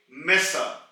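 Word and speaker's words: Messer: उमल के साथ मशन मशन नाइफ को कहेंगे मेसा मेसा यानी के छुरी मेसा और महीना यानी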